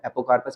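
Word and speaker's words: apocarpous: अगर ये फ्री है तो इसको बोलते हैं हम, इस कंडीशन को बोलते हैं हम एपोकार्पस। एपोकार्पस। और अगर ये हमारे पास फ्यूज्ड है तो सिनकार्पस। दोबारा प्रोनाउंस करना मेरे साथ, दो टर्म्स है, एपोकार्पस, सिनकार्पस।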